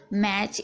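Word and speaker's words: match: अच्छे से समझ लीजिए बैच कैच मैच इन सभी में आप देख रहे हैं टी को कहीं भी पढ़ा नहीं जा रहा है कोई भी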